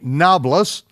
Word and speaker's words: Nablus: Abraham passed through the unto the place of Shechem, which is modern-day Nablus. Why it's called Nablus is because the Arabs can't pronounce a P.